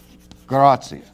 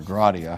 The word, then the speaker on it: gratia: So here we found one, the doctrine of sola gratia, or gratia, however you want to pronounce it, which means literally by grace alone.